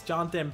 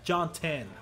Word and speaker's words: Jonathan: Parker uh Jonathan Banks Jonathan Banks that's how you say it John yeah jonan it's not Jonathan but uh Cameron Wake